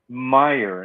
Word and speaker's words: Mayr: Chrissy Meyer, and it's spelled Mayr. Believe it or not.